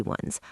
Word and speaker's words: one: Even though o is a vowel letter, one sounds like one. Wa is a consonant sound.